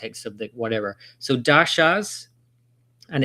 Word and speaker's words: dasha: So, dashas and it's the emphasis on the a because it's got a dash over the a and so it elongates the a sound or a.